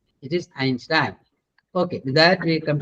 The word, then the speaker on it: Einstein: Einstein. Oh, Ah, Einstein. yes, it is Einstein. Einstein. Both Ein. Please don't forget that. But I have heard many saying Einstein. No, it is Einstein.